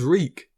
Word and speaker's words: Reek: he died at winterfell my name is reek he had to remember his name it rhymes with freak the persona ramsay is